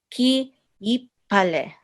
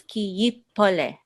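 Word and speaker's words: כי יפלא: So, ki yipale. Is that good? Actually, it's ki yipole. That's right.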